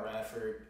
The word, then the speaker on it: RDFRD: like this artistry uh i go by radford uh just my last name without the syllable i mean without the uh the vowels okay so rdfrd um and so i've